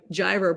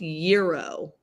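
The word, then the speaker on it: gyro: saying mom's always right jyro pronounced Euro Rick are you for real Euro year like Euro no Euro in Greek is pronounced Euro mom we're wrong we're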